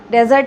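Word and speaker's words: dessert: सो सहारा इस तरह से एक डेजर्ट है जो बहुत बड़ा है, ठीक है. Next is डिज़र्ट. डिज़र्ट को स्टूडेंट्स याद रखना है आपको इसका प्रोनाउंसिएशन डिफरेंट है, डेजर्ट एंड डिज़र्ट.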